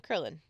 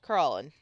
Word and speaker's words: Krillin: I think of Krillin from Dragon Ball Z, so we're gonna name him Krillin, not Krallin. Krillin.